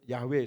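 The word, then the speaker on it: Yahweh: memanggil sebetulnya yhwh karena yhwh itu sulit diucapkan Suruh panggil yahwe supaya lebih gampang dalam hati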